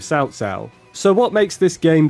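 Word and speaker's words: Cao Cao: I remember when he was Cow Cow instead of Sao Sao.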